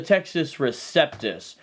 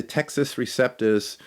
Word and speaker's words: Textus Receptus: um it's interesting because some people pronounce it as the Texas like it came from Texas like they out of Texas yeah straight from Dallas ladies and gentlemen basically the Texas Receptus is not one Greek